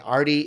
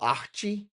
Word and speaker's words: Arty: My name is Arthur and I go by Arty, but when I lived in Brazil people saying Arty, it came out Ah-chee and Ah-chee is like when someone is like planning to do some badness.